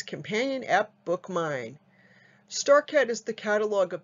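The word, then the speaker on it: BookMyne: And BookMine is spelled B-O-O-K-M-Y, like my, N-E.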